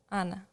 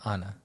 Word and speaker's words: Ana: Ana, like in Spanish. Which is just no But- different than Anna. I said Anna.